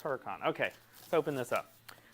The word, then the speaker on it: Hurakan: let's go with Huracan there's no e on the end it's Huracan okay let's open this